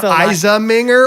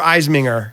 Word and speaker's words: Iseminger: a lot are there is it eisenminger or eisminger because i shorten it i think it's supposed to be ice like like ice ice baby okay um but